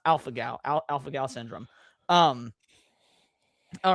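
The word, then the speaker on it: alpha-gal: I don't know if this is how you spell it, but yeah, it it's pronounced Alpha Gal.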